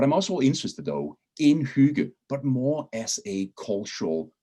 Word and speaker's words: hygge: a couple of times the two g's kind of create a soft sound and my definition of